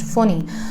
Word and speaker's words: Fani: Amphan is written Amphan but is pronounced Amphan, just like Cyclone Foni was written Fani but is pronounced Foni.